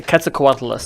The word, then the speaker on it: Quetzalcoatlus: It's a Quetzalcoatlus.